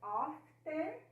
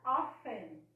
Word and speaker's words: often: Essa palavra aqui, ela pode ser pronunciada often, com o T, ou ela pode ser pronunciada como se o T não existisse. A ortografia permanece, mas você pode pronunciar often.